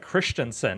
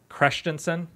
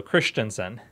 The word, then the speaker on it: Christensen: It's actually pronounced like Christensen as opposed to Christensen. Okay, I won't even try that. Yeah, it's like an I instead of an E, so Christensen.